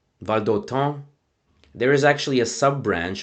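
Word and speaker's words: Valdôtain: So first of all, it's actually pronounced something like Valdoton. Valdoton.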